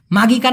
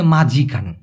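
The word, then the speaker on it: majikan: এই এই মানে কি মাঝিান না ভাই এটা হবে মাঝিকান কি হবে মাঝিকান মানে বানানটা হবে এম এ মা জে আই মাঝি তারপরে কে এন মাঝিকান এই মাঝিকান শব্দের মানে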